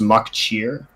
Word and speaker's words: MacTear: the name Meb MacTear, it's pronounced Maccheer, like Maccheer. That's wolf in Irish Gaelic, which I think is kind of nice.